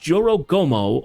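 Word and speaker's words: Jorōgumo: Pronounced Joro Gomo, a horrific fusion of a woman's torso with the lower body of a spider.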